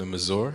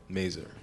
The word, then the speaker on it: Mazur: so when it first opened I was definitely pronouncing a Missour same cuz it just sounded like extra fancy oh okay differential nice now I know merer all right uh favorite tacos in town which